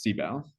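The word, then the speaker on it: CBOW: continuous bag of words nobody ever writes it out or pronounces it it's just C bow the both of these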